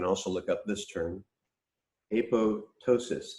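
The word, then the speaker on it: apoptosis: look up this term a PO ptosis a pose like proceeding like a PO ensign and then ptosis as with a silent P basically means like drooping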